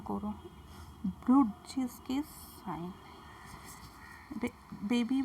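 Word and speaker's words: Brudziński: ব্রুডজিস্কিস sign, ঠিক করে উচ্চারণ করো, ব্রুডজিস্কিস সাইন।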